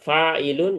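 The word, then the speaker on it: فاعل: Maka mengikuti pola ee fa'ilun di mana antara huruf fa dan ain itu ditambahkan alif. Fa dibacanya panjang ini fa. Kemudian harus huruf ainnya harus ee kasrah gitu. failun ya.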